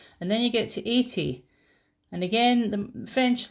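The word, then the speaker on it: quatre-vingts: So only here with number 80, 80, with an S at the end. You don't pronounce it though. 80.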